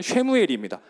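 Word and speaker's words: שְׁמוּאֵל: 있습니다 그래서 오른쪽부터 읽는데 사무엘을 히브리어를 발음을 하면 쉐무엘입니다 그래서 쉐무엘이 돼서 이제이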